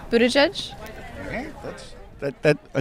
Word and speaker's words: Buttigieg: right well there you go how do you pronounce mayor Pete's last name Buddha judge okay that's that that I think we we're